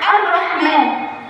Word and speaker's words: الرحمن: قال هنطق مع طا الرحمن دي بقى لام الشمسيه اللام الشمسيه بتكون مضغ ومش بطقه مش ه صبه التوسط ومش مش هتظهر خالص او الرحمن سامعين صوت